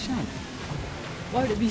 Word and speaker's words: Sean: It's seen. Huh? It's seen. It's definitely Sean. What? Yes. No. If it's spelled like that, it's Sean.